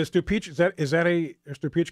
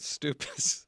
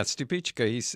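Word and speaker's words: Stupice: Is the Stupichka a cool season tomato?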